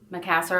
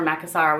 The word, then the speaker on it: Macassar: So this is my Keepall 45B, which means bandolier or bandolier, in the monogram Macassar or Macassar, whichever way you want to pronounce it.